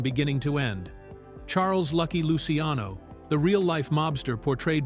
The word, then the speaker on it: Luciano: Charles Lucky Luciano, the real life mobster portrayed by Andy Garcia, actually pronounced his last name as Luciano with the emphasis on the Lucy part, which is how everyone